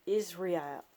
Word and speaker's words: Israel: Israel, not Israel. Israel, I like that. Even though you could say Israel, it's fine. It doesn't matter. It's spelled that way. I just like Israel. I like the way it sounds.